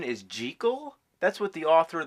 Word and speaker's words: Jekyll: You know that the proper pronunciation is Jekyll?